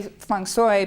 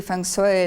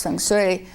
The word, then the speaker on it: Feng Shui: No, by the way, I say Feng Shui because I study with Asians and that's how they pronounce it. And it's actually Feng Shui, like Sui, you're not supposed to smile, so it's Feng Shui.